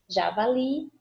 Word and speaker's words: javali: Javali, aquele esqueminha, não está acentuado, eu vou chamar a palavra como se fosse uma pessoa e isso já me ajuda bastante. Javali, oxítona, última sílaba tônica.